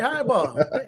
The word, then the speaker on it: Hyball: Highball.